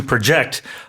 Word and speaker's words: project: right uh and uh the verb form the to project the intonation being on the second syllable meaning to estimate or to forecast using either trends or data.